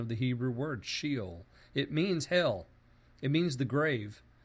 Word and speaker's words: Sheol: English and pronounced it according to an English pronunciation of the Hebrew word, Sheol.